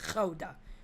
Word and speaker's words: Gouda: a lot of crap people pronounce it Gouda but I feel very strongly that it should be pronounced coda I don't have a